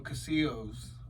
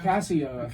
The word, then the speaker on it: Casio: I got a keyboard, one of those little Casillos, when I was really young. Casillos. One of those Casillos, or however is that how you say it? Casio? Yeah, Casio.